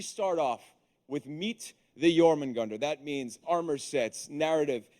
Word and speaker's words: Jormungandr: So that starts off with meeting the Jormungandr. That's the way you pronounce Absolutely, that.